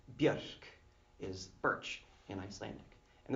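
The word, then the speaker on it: Björk: from the birch tree with Icelandic pronunciation Buick is birch in Icelandic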